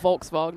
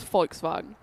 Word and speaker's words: Volkswagen: V is F and W is V pronunciation wise. V is F. So V pronounces an F. So like Folkvagen, it's not Volkswagen, it's folks vagen.